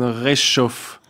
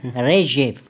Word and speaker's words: Rzhev: in dieser Schlacht von Reschov na Reschev Rechef, so spricht man das auch.